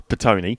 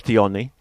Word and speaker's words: Petone: English, it's Petone. Petone. But Petione. Petione. In its original. Is it French? Maori? Maori.